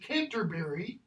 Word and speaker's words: Canterbury: Modern American English, Canterbury. British English, Canter, how it's pronounced, Brie. Okay? Well, where's that stress? Boom, boom. It's right there.